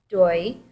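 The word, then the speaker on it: 对: seems impolite um um this one is actually easy to pronounce it's doy and it said it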